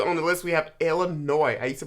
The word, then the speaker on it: Illinois: larger next we on the list we have illinois i used to pronounce this illinois and then people are like